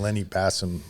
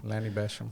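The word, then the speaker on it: Lanny Bassham: previously you were using Lenny passum uh system or um I'm saying his name wrong question Basham Lanny Basham Lanny Basham system but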